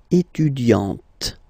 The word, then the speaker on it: étudiante: Okay, but then for the feminine form, elle est étudiante. Okay, T, T, T. Okay, you don't really insist on the E, but you insist quite much on the T.